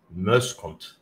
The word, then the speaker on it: Muyshondt: Well, my last name is from Oost-Vlaanderen, Belgium, and it is pronounced Muyshondt.